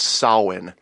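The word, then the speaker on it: Samhain: h AI n but it sprouts soin yeah because I'd like Gaelic pronounced e yes it is yes yes and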